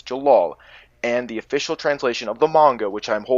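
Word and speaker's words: Jellal: dubs some of them will have say it's Gerard but it's not it's jalal and the official translation of the manga which I'm holding in my hand right now says Jalal their argument is dawn okay every episode so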